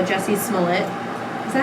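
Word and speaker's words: Smollett: So, anyways, since we're talking about celebrity news, I just want to talk about how Jussie Smullet. Is that how you say his name? It rhymes with Mullet.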